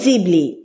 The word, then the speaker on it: Ghibli: গিবলির আসল উচ্চারণ হলো জিবলি।